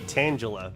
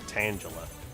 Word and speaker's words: Tangela: Some people say tangula, but I feel like because it's a tangled mess of of vines, it's definitely tang. Like to me, it seems like it's Tangula. I've heard somebody uh pronounce it Tangela, and that seems kind of funny to me.